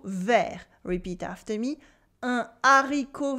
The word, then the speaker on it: vert: Vert in French means green with a silent T. We don't say verte in the masculine form, we say vert. It's part of the French